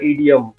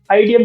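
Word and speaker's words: idiom: अब लास्ट आता है हमारा ईडियम। आइडियम भी बोल सकते हैं।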